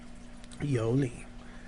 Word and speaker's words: 有理: 有理.